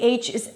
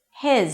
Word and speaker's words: his: If they're stressed, the H is absolutely pronounced. If they're not stressed, the H drops.